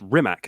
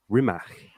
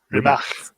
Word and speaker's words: Rimac: Now, I thought that Rimac was pronounced Rimac until recently I found out that it is actually pronounced Rimac. Rimac. Yeah, it's because it's Croatian.